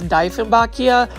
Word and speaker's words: Dieffenbachia: This one's another Dieffenbachia, and I think I'm saying it right now. It's Dieffenbachia. It's, German based, so yes.